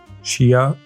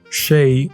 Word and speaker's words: Shea: good molecules mundai NYX OPI whey Redken Shia see I'm pronouncing it wrong again sheay moisture super goop tarte